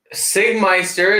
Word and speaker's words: Sigmeister: Sigmeister is pronounced Sig, as in cigarette.